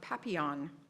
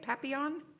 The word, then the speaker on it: Papillion: She and Myra explored the great outdoors and played make-believe in the suburb of Papillion. They say it Papillion? Papillion. Oh, okay, all right. You pronounce it properly, they don't.